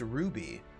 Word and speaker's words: RWBY: And it's pronounced Ruby.